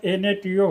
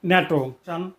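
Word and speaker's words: NATO: কিন্তু এর উচ্চারণ এনটিও হবে না। এর উচ্চারণ হবে শব্দের ন্যায় ন্যাটো।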